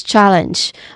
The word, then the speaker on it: challenge: then following that is challenge which also has two syllables and the stress syllable is on the first syllable.